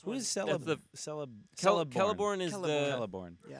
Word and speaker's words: Celeborn: the Celeborn. Celeborn is the. Celeborn. Yeah. Yeah, that's Galadriel's husband. right. He's the Yeah, it's Lorien dude. tricky because all the C's are in Elvish are pronounced with a K.